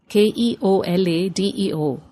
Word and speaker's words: Keoladeo: It is spelled Keoladeo, Keoladeo, but is pronounced Keoladeo.